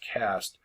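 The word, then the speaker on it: caste: an E like it should be case it's pronounced cast comes from the Portuguese word Casta which means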